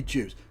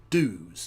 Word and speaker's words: dues: I say Jews. Dues is the American pronunciation which would be really helpful if Britain could adopt. That's the one piece of yankification. If I could introduce it, I would. Is to take the word due and change its pronunciation in Britain from Jew to do.